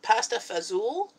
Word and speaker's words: pasta fagioli: though I'm just reading a pasta fagioli its pasta fazool yeah okay so a man different from fundamental